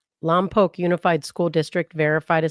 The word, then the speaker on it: Lompoc: Lamp poke. Lamp poke. Yeah. So it rhymes with mom and then poke. Lomb poke.